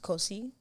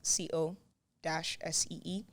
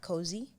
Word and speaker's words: Kosi: It's Kosi, like CO-SEE. Not cozy. Say it right.